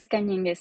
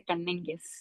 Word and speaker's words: Cañenguez: Es Cañengues, sí. Cañengues, sí. Como en inglés no hay una ñ, entonces todo el mundo dice Canengues.